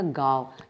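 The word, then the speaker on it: गाँव: चंद्रबिंदु हटा दिया जाएगा अनुनासिक को तो कैसे बोला जाएगा गांव यह शुद्ध उच्चारण है इस पर चंद्रबिंदु आने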